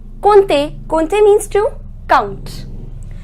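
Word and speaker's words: compter: pronunciation with neither pronounce em nor P the pronunciation is Ponte Ponte Colt a means to count next is this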